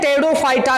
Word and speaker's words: Pteridophyta: जो पॉइंट है यह पेड़ों फाटा में बोलते वक्त यह नाम नहीं लिया जाता तीव्र जो है इसमें पेड़ों फाटा में यह साइलेंट रहता है पेड़ों फाटा में यह